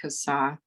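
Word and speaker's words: CSAH: So if you see a 5-sided blue sign, that is, the acronym is pronounced CASA.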